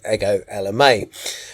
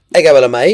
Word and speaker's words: Ego Ella May: It may be written Ego, but it's pronounced Ego. So, apologies. So, today, I'm going to talk about Good Intentions by Ego Ella May. Ego Ella May is an R&B, neo soul, and contemporary jazz